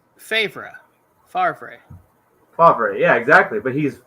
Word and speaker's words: Favre: Tom Brady is well it's like it's favra Favre fav yeah exactly but he's fav because that's